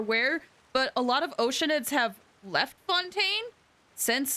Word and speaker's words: Oceanid: So now, there's weird implications that people are turning into Oceanids! Or Oceanids. That's how it's supposed to be pronounced. I've been saying Oceanid for, like, ever.